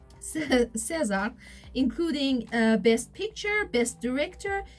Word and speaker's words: César: Am I pronouncing it César, correctly? right. César, including Best Picture, Best Director, and Best Actor for Brody.